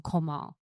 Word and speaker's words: Komal: What a crazy experience cuz I don't think everybody can pronounce my name. So I'm going to go again Komal right. Yes.